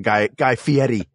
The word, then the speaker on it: Guy Fieri: I'd like to release a public statement on Guy Fieri. Yes, I said his name right. I have respect for pronunciations.